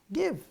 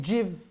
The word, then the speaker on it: give: give right give get give is not jiv can you give me